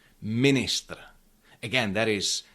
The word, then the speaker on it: ministr: happens in many loan words like for example minister minister again that is e after n but it is not pronounced as orion stadium.